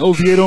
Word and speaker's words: Oviedo: I just went straight to the source and said, am I saying this right? And he says, yep, you're saying it just fine.